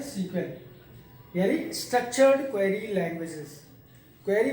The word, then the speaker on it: SQL: हम लोग लिखते हैं एसक्यूएल है बट प्रोनाउंस किया जाता है सीक्वेंस, यानी स्ट्रक्चर्ड क्वेरी लैंग्वेजेस।